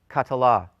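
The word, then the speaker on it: קָטְלָה: So we pronounce this as ka-tla, ka-ta-la. 3 syllables, ka-ta-la.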